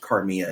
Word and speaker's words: Carmilla: And it was probably the impetus for him to write a story about it's pronounced Carmilla. It's spelled like Carmilla.